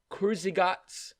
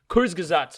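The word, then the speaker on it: Kurzgesagt: recommend everyone to watch kurzygot's new video i mean when we released this wait did i pronounce it wrong isn't it crazy yeah it's kurtz sorry sorry sorry i mispronounced that kurzgazat's new video the limits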